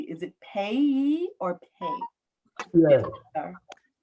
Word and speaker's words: Peay: Peay.